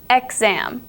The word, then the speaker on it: exam: now you have the word exam it sounds like it's spelled with eg G as an egg but no it's exam exam is how you say it but it's spelled exam e ex a m exam this is the gz sound that X can create